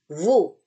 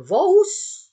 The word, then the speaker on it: vous: Nah, kalau O-nya ketemu U, maka baru dia terbaca U kita. U Indonesia. Contoh, vous. Bukan vous, ya, tapi vous.